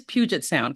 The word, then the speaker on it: Puget Sound: so make I want to make sure I pronounced that correctly it is Puget Sound correct correct all right well Steve welcome to